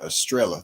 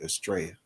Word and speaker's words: estrella: he keep on saying estrella too like two l's it ain't in spanish two l's comes out to be pronounced as like a y so it's really astray he keeps pronouncing it